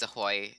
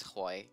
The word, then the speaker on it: HOI: memed into a really oh it's Ahoy oh it's hoi it's hoi it's hoi it's hoi